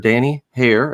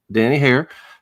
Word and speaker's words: Danny Haire: Danny Hair. Am I pronouncing that correctly, Danny? That's correct, sir. Danny Hair, who is with Financial Services, Inc.